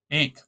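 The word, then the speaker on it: ankh: above the towel T that is its pronunciation equivalent was expressed by the English spelling of an a n k h recently changed by the gr grammarians to a a sorry e n KH ink this symbol entails a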